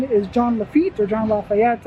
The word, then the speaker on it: Lafitte: The pirate in question is John Lafitte, or John Lafayette. I think Lafitte is the proper pronunciation.